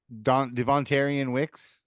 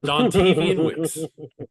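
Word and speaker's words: Dontayvion Wicks: Devontarian Wicks. Yep. I don't know if there's any truth. You're going to have to learn how to say his name if he becomes a Niner. Dontavian Wicks.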